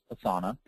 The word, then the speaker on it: Asana: term Asana is pronounced Asana but this is pronounced assana and it is a fantastic tool it's free